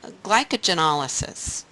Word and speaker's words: glycogenolysis: So glycogenolysis, you can hear that as glycogen lysis, and that's pretty much the way it's pronounced, breaking down glycogen.